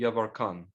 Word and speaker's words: Yevarkan: His name is Gadi Yavarkan. What is his name? Gadi, like Desta Gadi Yavarkan.